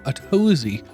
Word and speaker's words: Atozy: Uh, technically, well, his name is now pronounced Atosy.